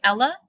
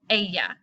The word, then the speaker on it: ella: please do not say Ella remember the double L is pronounced like a Y a yeah si busted' you singular